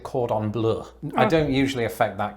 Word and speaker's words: cordon bleu: to sound pretentious you you don't exactly pronounce it the french way like i do i suppose that makes me sound pretentious i pronounce it cordon bleu i don't usually affect